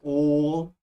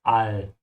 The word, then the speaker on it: Weltall: Be careful with the pronunciation of all. Yeah, keep your mouth open. This is not all, it's all.